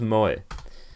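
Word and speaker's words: 萌え: Pronounced Moe.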